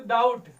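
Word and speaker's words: doubt: हो जाएगा, date, B नहीं पढ़ेंगे क्योंकि बी साइलेंट हो जाएगा। जो देखो डाउट, DOBT है ना, तो डाउट पढ़ेंगे, बी नहीं पढ़ेंगे, बी साइलेंट हो जाएगा।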